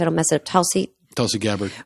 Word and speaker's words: Tulsi Gabbard: Tulsi Gabbard.